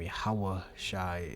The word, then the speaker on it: Yahweh Shai: Yahweh Shai is the only begotten Son. It's his true name in the Paleo Hebrew, properly pronounced.